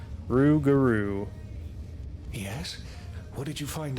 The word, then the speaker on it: Rougarou: The Rougarou could provide the Rougarou, that's how you pronounce that. Rougarou.